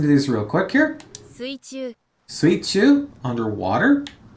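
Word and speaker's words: 水中: So if we look at the kanji here, we have the kanji for water and the kanji for middle, and they're pronounced exactly as I expect them to be. Suichu. The other way you can pronounce these kanjis like mizu and naka, but that wouldn't make sense here.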